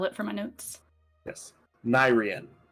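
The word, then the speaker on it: Nairean: for my notes yes nyrian n-a-i-r-e-a-n almost like the second half of the plane's name of Kevin Nair it's all coming together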